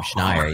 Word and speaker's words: Schneier: Nobody knows how to pronounce it. You actually got it right almost on the first time. Schneier. Yeah. Like Schneier.